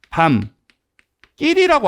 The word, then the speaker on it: 밤길: 근데 얘를 만약에 발음한다고 하면 우리가 밤 끼이라고 합니다.